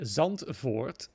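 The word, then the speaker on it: Zandvoort: The time trial tracks are, if I get that correctly, Mexico and the Netherlands, aka Zantford, because that's how you pronounce it in Dutch.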